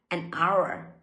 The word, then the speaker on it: hour: အနည်းစလား။တခြားအသံနဲ့စားသမျိုးတွေသိထားမှ a နဲ့ထည့်တဲ့အခါမှာမှန်မှာဖြစ်ပါတယ်။ဥပမာတကယ်လို့မှတီချယ်တို့က HuR ဆိုတဲ့အသံကိုမသိထားပဲနဲ့ဟာ H ကခွင့်ဆိုနဲ့ Aသွားရင်းမယ်။အဲ့လိုဆိုရင်လုံးဝမှားသွားပါပြီ။အဲ့တော့စကားလုံးတိုင်းရဲ့ pronunciation ကိုသိဖို့လိုအပ်ပါတယ်။အဲ့တော့ an hour an hour အဲ့လိုထွက်ရပါမယ်။တကယ်လို့မှကိုယ်က တကယ်လို့မှကိုယ်ကအသံထွက်တတ်တယ်ဆိုလို့ရှိရင်တော့ another hour တီချယ်တို့ကအသံလေး link